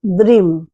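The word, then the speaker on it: dream: কিন্তু উচ্চারণটা হবে দ্রিম দ দিয়ে উচ্চারণটা হবে ড দিয়ে দিয়ে নয়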